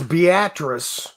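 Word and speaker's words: Beatrice: And that's Beatatric. We in the Midwest don't pronounce things correctly, so it's Beatatric, Nebraska. Uh, no, it it it wasn't.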